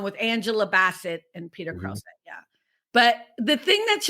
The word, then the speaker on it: Krause: Krause.